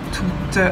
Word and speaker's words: tout: Les formes masculines singulier et pluriel sont toutes les deux prononcées tout. On ne prononce pas le T final.